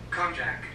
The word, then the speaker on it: konjac: um but water organic conject conjunct conjure flower i think that's how you pronounce it let's check the pronunciation of this word is sounds like konjac konjac konjac okay you guys konjac i am familiar a